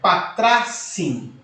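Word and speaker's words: πατράσι: Quando eu tenho esta raiz, tá, dentro desse pressuposto no dativo, segundo alguns gramáticos, para facilitar a pronúncia, é desenvolvido o alfa, um alfa, tá bom? Então ficaria patracim, patracim, ok?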